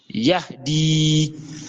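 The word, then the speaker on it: يهدي: au hana yahdi yahdi c'est le he où le son sort du fond de la gorge parce que si vous ne prononcez pas ça correctement vous allez confondre avec le le ha le ha d'accord si vous dit yahdi h ce n'est plus la même chose.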